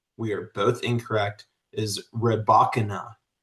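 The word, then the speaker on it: Rybakina: And according to my research, Elena's last name, we are both incorrect, is Rebachana. Rebakana. Rebakana. So that that is the most common pronunciation that I have come across.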